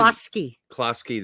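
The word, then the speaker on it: Kluski: I'm going to get that name wrong. But listen. Klasky, that's right.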